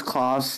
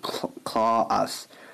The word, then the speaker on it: Klaus: Why do you pronounce Klaus' name like Claw-us? I don't pronounce his name Claw-us. I pronounce his name Klaus almost every day when I watch his streams.